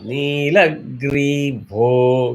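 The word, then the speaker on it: नीलग्रीवो: Nilagrivo. Gri is Udata, Vo is Anudata.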